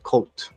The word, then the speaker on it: CVLT: They're just pronounced cult.